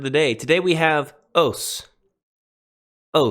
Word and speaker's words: ὅς: Greek word of the day today we have os-- oh it's the relative pronoun who which now then the masculine is os-- I believe if if you're using irassman pronunciations Haas the feminine is e it looks just like